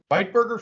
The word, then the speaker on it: Bitburger: I've got, I believe you pronounce this with an I, and you highlight the I there. So it's Bitburger Fest beer.